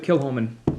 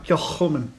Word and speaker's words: Kilchoman: Anyway, so we're gonna go with Kilchoman. Kilchoman. Kilchoman. Yeah. All right. So the proper pronunciation has got that Phlegm. to phlegmy it.